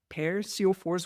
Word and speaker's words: Per Sjofors: And today I have got Per Sjofors with me. And if I was to pronounce his name in Swedish, you would not recognize it. So that's the anglicized version of his name.